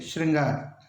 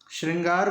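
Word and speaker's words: शृंगार: शब्द देखने वाले हैं सबसे ज्यादा एग्जाम में आने वाला शब्द ने श्रृंगार श्रृंगार में री के बाद र नहीं लगता ध्यान दें तरीके भद्र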